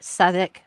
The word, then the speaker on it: Southwark: don't make sense either southik are you kidding me it's spelled like southwark come on you're gonna